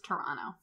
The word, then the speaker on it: Toronto: can say that uh-huh I pronounce Toronto like Toronto and not Toronto no one pronounce is it like Toronto that's too much that's so much effort it's Toronto yeah yeah yeah but like